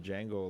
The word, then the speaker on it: Django: Yeah, I I think it's just Django, right? I I don't think you pronounced the D.